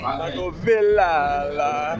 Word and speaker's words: Michael Villella: Michael Villella.